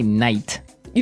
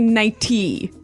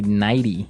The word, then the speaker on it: nightie: But you don't say night. You don't say nighty. You say nighty. Yeah. You you make the t a d.